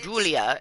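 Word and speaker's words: Giulia: where there is girl Julia and her name is spelled with a G it's guu i l a Julia I think that the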